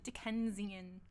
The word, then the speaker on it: Dickensian: were in the Dickens dick dickan dickensian dickensian that's how you say it uh mold dealing